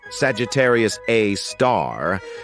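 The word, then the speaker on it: Sagittarius A*: Way isn't an exception we've got Sagittarius A which is pronounced Sagittarius A star this space monster is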